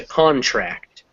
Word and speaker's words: contract: the first word um when it's a noun like most english words will take the stress on the first syllable so con and then that a kind of gets smaller so comes contract so it comes contract in the verb the accent is going to uh at the final at the end of